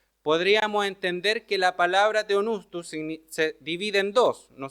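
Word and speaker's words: θεόπνευστος: Y esa palabra es teonustus, ¿okay? Así se pronuncia para el que quiera saberlo.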